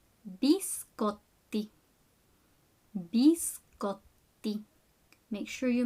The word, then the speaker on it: biscotti: Biscotti. Biscotti. Make sure you make that pause on the double T. Biscotti.